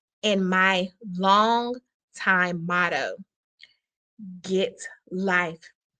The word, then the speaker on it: Git Life: The title of this show, Get Life Educational Empowerment, is rooted in my long time motto, Get Life. It is spelled GITLIFE.